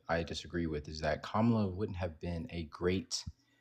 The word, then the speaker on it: Kamala: I believe that, uh, Kamla, and I'm going to say her name right out of respect for you, my love.